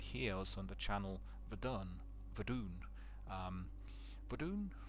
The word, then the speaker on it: Verdun: also on the channel Verdun, yeah, that's the way it's pronounced in French.